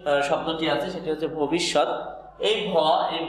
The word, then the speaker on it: ভবিষ্যৎ: অর্ধেক হচ্ছে খণ্ড ত, আর উচ্চারণের সময় খণ্ডটা ত এর মতোই উচ্চারিত হয়। আমরা শিখতেছি বাংলা উচ্চারণের নিয়ম, তাই আমরা খণ্ডতার পরিবর্তে আমরা ত দেব, যেহেতু খণ্ডতা ত এর মতো উচ্চারিত হয়। তাহলে ভবিষ্যৎ ভয়কারে ভ হবে, কারণ